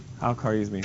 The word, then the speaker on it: Al-Khwarizmi: Al-Khwarizmi. Al-Khwarizmi? Is anybody? Can anybody pronounce Arabic very well? So how would you pronounce it? Al-Khwarizmi.